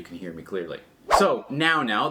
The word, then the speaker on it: Nao Now: hear me clearly so now now that's spelled n a o n o w just to confuse you they are a company